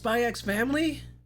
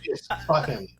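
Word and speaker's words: Spy × Family: Also felt the same way about uh is it Spyx Family? Is that how you pronounce it? Spy Family. Spy Family.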